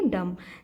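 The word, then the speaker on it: dumb: डम डम है लेकिन इसे हम क्या पढ़ेंगे डम जैसे कि अ कं कीी को हम बोलते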